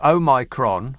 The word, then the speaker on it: Omicron: And that's the word Omicron, because people keep putting an extra N in the middle of it, as in omnibus, and so on. And it's amazing about how many people keep using the wrong words. It's easy to remember, but just say it the way I do.